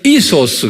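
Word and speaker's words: ἴσος: 이소스 그랬어요. 여러분들 헬라말까지 같이 외우세요. 예. 휴이오스. 그 다음에 이소스.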